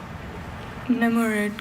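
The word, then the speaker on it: nemourid: Namurud, can I have all the information again, please?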